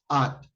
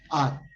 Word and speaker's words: @: The pronunciation for arroba is no arroba, it's at. That's the correct pronunciation, at.